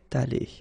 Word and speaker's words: allée: Okay, so elle serait allée, okay? But then phonetically it doesn't exist, all right? So it's allée here and then allée here, the way you pronounce it.